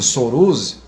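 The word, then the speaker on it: Sourozh: também o bispo Antony de Souroz, seria a pronúncia, Souroz, que é o futuro patriarca Alexei II, que vai ser o patriarca da Igreja Ortodoxa Russa em 1990 só.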